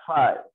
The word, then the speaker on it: phi: तो वी क्या लेते हैं ग्रीक, ये ग्रीक लेटर है, इसका प्रोनाउंसिएशन होता है phi, phi।